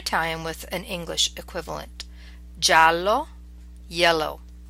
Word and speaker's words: giallo: jello spin G and here are the words pronounced a time with an English equivalent giallo yellow Giovanni young gusto just fair or correct